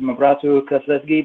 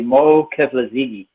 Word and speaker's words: Keflezighi: The Tigrinya name is pronounced Mabrato Keflezighi, but in the States they say Mo Keflezighi.